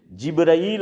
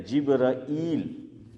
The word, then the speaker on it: جبرائیل: جو ہے صحیح ہے۔ جبرائیل اگر کوئی بولے وہ بھی صحیح ہے، عام طور پہ ہم تلفظ اسماعیل بھائی کیا کرتے ہیں؟ جبرائیل، لیکن بعض لوگ بولتے ہیں جبریل، تو امک لوگوں کا